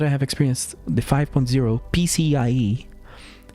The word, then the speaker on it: PCIe: We say it PC Express, some people say it. CIE. PCI, I've never said that